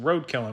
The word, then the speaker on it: RDKL: contract according to john bumstead of rdkl incorporated pronounced roadkill incorporated beginning in the october of 2020 ebay